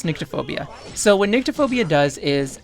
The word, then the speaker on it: Nyctophobia: Alright, Google says it's Nyctophobia.